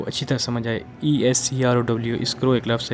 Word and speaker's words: escrow: अब एक और हमारे पास लफ्ज़ है इस्क्रो, ESCROW। इस्क्रो आपकी वजह से मैं फारसी का व्यूअर सेल्फ मैं आप इसको स्पेलिंग इसलिए स्पेल कर रहा हूँ ताकि आपको कोई इशू ना हो।